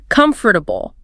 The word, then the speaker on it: comfortable: On paper, it's C-O-M-F-O-R-T-A-B-L-E. 4 clear syllables, right? Comfortable. Right, but how do you actually say it? I realized I never, ever say the O-R. I just say comfortable. 3 syllables.